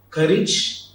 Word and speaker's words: courage: Courage and heritage. Hope you will practice the pronunciation later.